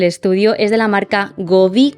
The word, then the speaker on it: Govee: es de la marca gobi creo que se pronuncia Así es la que es goe Y la verdad es